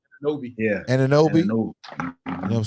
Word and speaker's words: Anunoby: Anabi. How you pronounce his last name? Anunoby. Yeah. Anunoby.